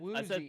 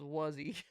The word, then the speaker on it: Woozy: I've been saying the name wrong. Good to know. Thank you for correcting me. I don't know. I kept thinking it was Wuzzy.